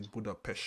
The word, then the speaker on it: Budapest: and I asked him how do you pronounce budapes it's a Buddha PES Buddha PES yes the English man pronounce Budapest I forget I for give